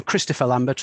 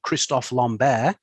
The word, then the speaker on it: Christophe Lambert: And it's the 1992 classic from Christopher Lambert, or Christophe Lambert, as, to give him his correct pronunciation.